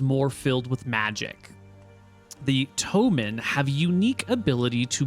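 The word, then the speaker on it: Ptomin: They are the Tomen, spelled P-T-O-M-I-N or E-N. The P is silent like in pterodactyl.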